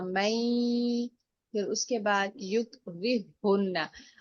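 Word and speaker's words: يكرههن: कायदा यही है कि जब जज़म वाला हर्फ और उसके वेरी नेक्स्ट जो नेक्स्ट लेटर है उसके ऊपर तशदीद हो तो जज़म वाला हर्फ नहीं पढ़ा जाता, हम उसको स्किप करेंगे, वो साइलेंट होगा, और नेक्स्ट वाला जो हा है तशदीद वाला हा उसके साथ हम रा को अटैच करेंगे।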